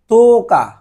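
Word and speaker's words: 十日: তারপর হচ্ছে তোকা, তোকা, এভাবে উচ্চারণ হবে তোকা, এই তো বলে তারপরে আবার ওর জন্য একটু টানবেন, তোকা, তোকা মানে হচ্ছে 10 তারিখ।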